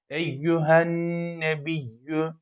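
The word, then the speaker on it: أَيُّهَا النَّبِيُّ: Selamünaleyküm eyyuhen ne şehrin onu biraz üzerinde durarak okuyoruz eyyühen-nebiyyü diye direkt geçmiyoruz eyyuhennebiyyu eyyuhennebiyyu ve rah rah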